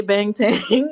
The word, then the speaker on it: Bangtan: I don't know why I always sound so weird when I say Bangtang, because it's like, I know that's how we pronounce it is Bangtang.